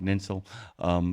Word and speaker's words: Ninsel: What a great way to end this segment, Ninsel. By the way, rhymes with tinsel.